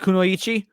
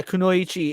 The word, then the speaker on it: kunoichi: correct pronunciation though like kunoichi like they might maybe they like held out the E too long or something maybe that's what you're talking about but yeah kunoichi is the is the correct pronunciation she's the Assassin not